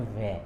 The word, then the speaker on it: व्यय: में ऐसा आता है, लेकिन जो सही शब्द है उच्चारण के साथ बोलना है वो है व्यय, ऐसे आधा व, य और य।